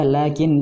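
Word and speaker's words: لكن: Setelah lam, ketika pengucapan seperti ada alif, lakin, itu juga lakinna. Tetapi penulisannya itu tidak ada alif, lakinna, tidak ada alif di depan lam.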